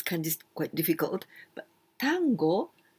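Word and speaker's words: 端午: different name is otangono tango no seku this kind is quite difficult but tango the pronunciation is just the same as the argentine argentine dance at urgent music tango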